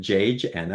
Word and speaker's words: Janna: Um, is it Janna? Am I pronouncing that correctly? Or if you correct me when you unmute your microphone, that'd be wonderful. But welcome to the call. Thank you. Thanks for calling on me. And yes, you pronounced my name right.